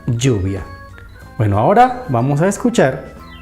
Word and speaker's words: lluvia: Y por último, si juntamos la doble L con la U, se forma you, la sílaba you, como la palabra lluvia.